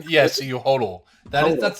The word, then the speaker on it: hodl: Am I pronouncing that right? Yes, you hodl.